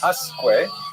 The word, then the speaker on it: Usque: So I would guess the subject of tonight's lecture is Samuel Usque. However, when I looked it up online, they said Usque, which seemed to me